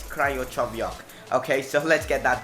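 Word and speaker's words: Krychowiak: First up we have 2 CDMs, Andor Iturraspe and Gregor Kirochoviak. I'm not too good with pronunciation, no, it's Kryochoviak.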